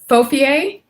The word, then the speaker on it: Fofie: You're gonna hear us call her Fofie. Did I say it right? Fofie. She said there's an accent on it. Tell us how to say it again. Fofie?